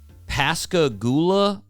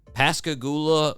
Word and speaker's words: Pascagoula: Yes, born on December 25th, 1946 in Pascagoula, I think is how you say it. Pascagoula, Mississippi.